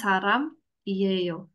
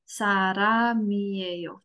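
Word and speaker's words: 사람이에요: jadi kayini Sara ngo bacanya bukan Saram iyeyo sarameyo gitu ngerti ya ini ada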